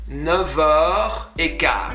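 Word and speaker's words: neuf: say il est 9h15, because an F, when you're linking, is pronounced like a V. I know it's strange, right? It's not never pronounced like an F, like 9, which is number 9. If you want to link it with the vowel after that, you're going to use a V sound.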